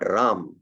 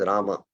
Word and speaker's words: Rama: So it is not Ram, it is Rama. It is 2 syllables.